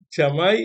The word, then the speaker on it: Shamai: la escuela de hilel ella se pronuncia chamay y bet hilel chamay